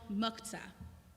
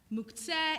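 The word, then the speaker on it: מוקצה: Our rabbis created a category called muktzah, literally set aside. Muktzeh in a good modern Hebrew accent, but all my teachers say muktzah in Ashkenazi pronunciation, so I will too.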